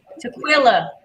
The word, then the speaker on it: Tequilla: Tequilla, like NyQuil.